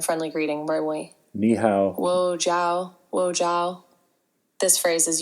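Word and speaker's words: 我叫: And the second phrase is wo jiao, pronounced like wo jiao.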